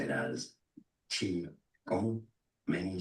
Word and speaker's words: Qi: But modern international and professional courses say and write, they write this way, but it's better to pronounce Qi.